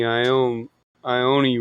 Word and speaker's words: Iommi: I mean, it's just like, how do you pronounce Tony Iommi? Is it Tony Iommi? Yeah, Iommi.